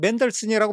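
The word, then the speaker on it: Mendelssohn: 소리가 들리기 시작한 겁니다 멘델스존이 영어에서는 맨들슨이라고 발음이 돼요 우리는 멘델스존의 결혼 행진곡의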